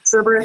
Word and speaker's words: Cerberus: The official rep of the ABKC can't Serbius or pronounce Cerberus. Is Service. it Yeah. Yeah. Cerberus?